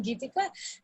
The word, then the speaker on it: Gitika: My name rhymes with Nidhika, Gitika, Nidhika. So every time the others are trying to connect with you, I'm like, yeah. So I'm Gitika.